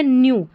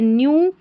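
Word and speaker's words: knew: तो यह बन गया न्यू। अब के एन साथ में है के साइलेंट है। ठीक है? के को नहीं पढ़ा इसलिए न्यू दैट द ओल्ड क्या है यह?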